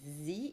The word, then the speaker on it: Sze: last name is present Z but it's written as Z right correct Z ok so it could have been just the letter Z exactly it's pronounced like the letter Z okay so Lisa is